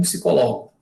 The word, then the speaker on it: psicólogo: Esse P também é mudo. Psicólogo. A questão do acento é aqui, psicólogo.